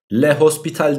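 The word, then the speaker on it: L'Hôpital: bir yöntem daha bu yöntemin ismi lofital arkadaşlar lehospital diyen de var o kuruluşuyla yapmakta da fayda var yani lofital diye telaffuzu varmış Eğer 0/0 oluyorsa arkadaşlarım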